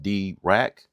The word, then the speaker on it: Dirac: You get features that normally sit above that price, like Dirac-tuning, that's pronounced D-Rack.